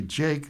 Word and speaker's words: JVKE: And singer social personality Jake, that's spelled Jvke, is 25.